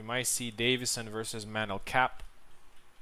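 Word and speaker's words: Kape: We might see Davison versus Manel Cap. I think it's actually Cape, the correct pronunciation.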